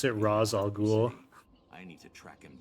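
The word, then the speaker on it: Ra's al Ghul: got it right did not get he did pronounce it raal ghoul I need to track him down and it's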